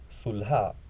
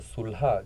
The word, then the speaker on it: Sulha: pueblo, que es Xochislahuaca, ¿cómo se pronuncia en Amuzgo? Sulha, se pronuncia Sulha, que quiere decir llanura de flores, quiere decir llanura de flores.